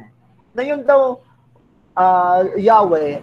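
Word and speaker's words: Yahweh: na yun daw ah yahwe Ay hindi talaga yun ang totoong bigkas niyan no nilagyan lang yan ng vowel nilagyan lang yan ng vowel para mabuo no kasi yun talaga pagka nakita mo sa israeli na ano sa sa Hebrew na text Ang spelling niyan Ay yhwh lang So kung ano man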